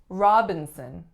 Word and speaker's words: Robinson: we have Robinson Robinson three syllables in this one the winner again is on the first and the sound that it makes is aa the second syllable then it's a syllabic N or schwa n and the third syllable is also a schwa Robinson Robinson next up